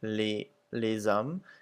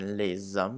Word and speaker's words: les hommes: So you'll see that the S's are pretty much not pronounced at the end of the words, except for les hommes, where it makes a Z sound.